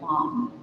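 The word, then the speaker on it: LAM: It's spelled l, but it's like a lom. It's more of a soft long.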